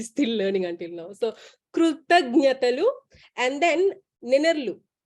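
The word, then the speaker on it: కృతజ్ఞతలు: Krutagnyatalu. Krutagnya, that one actually. Krutagnya. But our Malaysian Telugus will cutely pronounce it as Krutanatalu, something like that. Something close to that.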